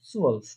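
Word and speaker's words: zwölf: এখানে দেখেন একটা উমলাউট আছে। ঠিক আছে, সুয়ালফ বলার সময় একটা ঠোঁটটা একদম গোল করে ফেলতে হবে। ঠিক আছে, সুয়ালফ। হ্যাঁ, তাহলে এলফ এবং সুয়ালফ 11 থেকে 20 এর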